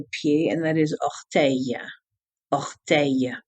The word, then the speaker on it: orteil: Now, there's also another word for doigt de pied, and that is orteil. Orteil. O-R-T-E-I-L-S. Orteil.